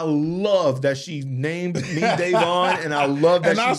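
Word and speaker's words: Daivon: Davon, because it's spelled D-A-I-V-O-N.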